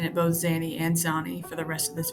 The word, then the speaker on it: Zanni: I went back during this take, and I realized that Zanny is how you pronounce it, or Zan. You can say it either way, but I end up pronouncing it both Zanny and Zani for the rest of this video.